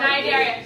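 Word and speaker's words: Cnidaria: No, it's night area.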